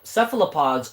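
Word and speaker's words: cephalopod: Seephalopods. I believe that's how you say it.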